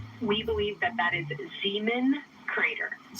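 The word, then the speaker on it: Zeeman: We believe that that is Zean Crater. Zemen.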